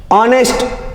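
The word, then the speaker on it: honest: ऑनेस्ट, H silent है।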